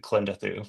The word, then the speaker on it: Klendathu: So It's possible we were mispronouncing it, but Mr. Christofferson always pronounced it KLENdathu for whatever it's worth.